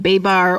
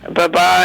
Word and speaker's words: Babar: dissect children's books like Babar or Babar I I never know how to pronounce that word but that quickest Babar I mean that's how the French say it anyway I was in